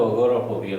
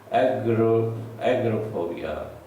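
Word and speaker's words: agoraphobia: देखने में तो अगोराफोबिया लगता है, बट the pronunciation is एग्रोफोबिया।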